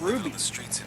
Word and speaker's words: RWBY: RWBY, which they pronounce Ruby.